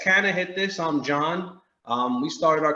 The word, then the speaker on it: CannaHitThis: So it's actually CannaHitThis. So like cannabis. Yeah, right. That's what, I'm just saying it wrong, like an idiot. I'm saying can I, and it's like no.